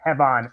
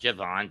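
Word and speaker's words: Jevon: Leon Slater, the champ, will take on Hevon Evans. It's pronounced Javon, but Javvon. Javvon. Javon.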